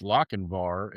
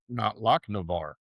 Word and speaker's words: Lochinvar: Well, I think it's interesting that I just now learned that it's Lochinvar and not Lochinvar.